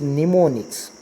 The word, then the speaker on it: mnemonic: As if now, just understand assembly level language or middle level language uses mnemonic codes. M is silent.